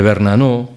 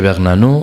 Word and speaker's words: Bernanos: Hay una frase muy sonora y un poco descortés de Bernanos, nunca he sabido si se dice Bernanos o Bernanos, se pronuncia la S, de Bernanos, el escritor, el novelista